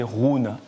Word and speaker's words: Roon: Comment ça prononce? Ça, c'est Rhône.